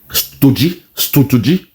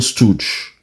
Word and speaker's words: stooge: Stoogie. I said, wow. He's saying Stooge. He called it Stoogie. God, aye. The most educated. God. A judge could not read. A stooge. He pronounced stooge as Stoogie.